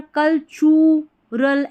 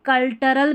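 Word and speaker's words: cultural: architecture and कल अब यहां पर कलच रल ऐसे नहीं कल च टी यू को चरल कल्चरल कल्चरल नहीं पढ़ना है कल्चरल और कल्टरल भी नहीं पढ़ना है ठीक है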